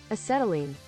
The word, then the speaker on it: acetylene: Pronunciation. Let's see. Let's see what it says. Acetylene.